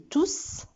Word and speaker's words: tous: Donc, dans la phrase E, tout, si je dis tous, parce qu'on a vu que quand il est pronom, le S se prononce.